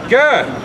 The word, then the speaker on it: Gad: and Gad in the Hebrew is pronounced God.